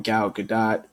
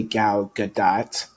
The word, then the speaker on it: Gal Gadot: about, her name, because a lot of people say her name differently. So I say Gal Gadot, you know.